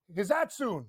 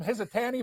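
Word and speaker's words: Hisatsune: Japanese food in Rio, Hizatsune. That's how you say it. I called him Hizatani before.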